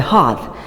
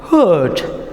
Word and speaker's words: heart: important part of a hearth? So it's pronounced hearth. Now, and there is difference between heart and hearth. Okay, many people, even H-E-A-R-T, heart, many people pronounce it hurt. Now it's a mistake, because hurt means H-U-R-T,